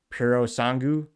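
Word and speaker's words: Purosangue: Ferrari puts a naturally aspirated 6.5-liter unit in its 12-cylinder array, and Porpoise, kidding, it's pronounced maybe Puro Sangu, while Lamborghini does the same with their Volto.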